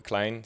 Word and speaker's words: Kleijn: Yeah, the thing is, a lot of, especially American people, have difficulty saying Eelke, which is normally it's pronounced Eelke Kleijn.